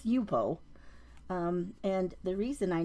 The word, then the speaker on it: Yupo: the yep I I've heard people call it yepo it's yupo um and the reason I know that is